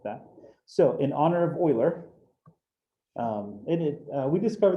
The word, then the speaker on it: Euler: his name was greg it's his name is pronounced euler um so euler what he did is he solved a lot